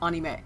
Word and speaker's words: anime: Note video but that's that's the correct pronunciation that's not a per question like Jif or gif it's anime anime and manga not up